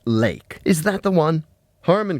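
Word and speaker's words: Lache: uh Jerry L uh l a c h e ah pronounced lake is that the one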